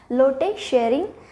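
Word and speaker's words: Lotay Tshering: से आपने देखा कि टी साइलेंट है लोटे शेयरिंग नेशनल एंथम यहां पर है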